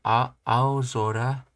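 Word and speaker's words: 青空: Sora, most all compound nouns for which sora is the second component pronounced as zora. So, ozora, so aozora, aozora, then yozora, ashizora.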